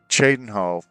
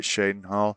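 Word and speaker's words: Cheydinhal: By the way, um, Chadenhal. There is not one pronunciation in the game. Some kind, some people call it Shadenhal and others call it Chadenhal.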